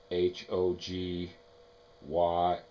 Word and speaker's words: Hoge: And uh a lot of people see the name Hogy H O G Y E, pardon me, not Y, and they assume it's pronounced Hogue.